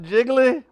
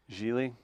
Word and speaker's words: Geely: It's not Jiggly. What is? How you spell it? It's like G-I, GLI, right? maybe. You say it's what? Geely.